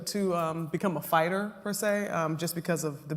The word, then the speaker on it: per se: correctly the next word in spite of being spelled with an e is pronounced with a long a sound say per se per se thank you so much